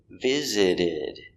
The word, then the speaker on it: visited: time i visited visited the s is pronounced as a z visit the t is pronounced like a d visid visited visited the last time i